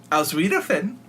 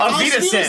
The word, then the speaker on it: Auf Wiedersehen: Aus Wiedersehen. It's like the That's not even, Sweeter that's not even how you say it. it's How like do the you end say of it? it. Auf Wiedersehen.